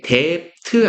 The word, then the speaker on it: debt: 예, debt 아닌 거 아시죠? 발음하실 때 D는 묵음이에요. debt죠.